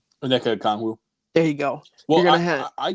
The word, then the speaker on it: Onyeka Okongwu: Onyeka Okongwu.